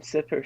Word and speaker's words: Sipper: all right you can how do you like pronounce pepper that's exactly the same way to pronounce my name instead of p just say s so you're on